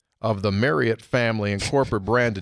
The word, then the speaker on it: Marriott: And he clearly said it, Marriott. Clearly said that's how the family's always said it. Said it's been mispronounced for a long time. Family knew it was mispronounced.